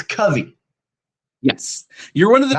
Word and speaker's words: Covey: when you were 10 is when you decided, and it's Covey, Yes, you're one of the very not few that Covey. actually pronounced it correctly.